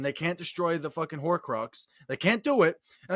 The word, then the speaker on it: Horcrux: How do you pronounce it? Horcrux.